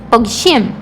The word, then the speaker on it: פוגשים: Veja que tem um sonzinho de G, tá? פוגשים, que acaba parecendo que a gente nem tá falando, mas ele tá ali, então tem que ser pronunciado.